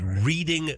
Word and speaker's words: Reading: The Reading Football Club in England is recalling merchandise that has the name of the club misspelled.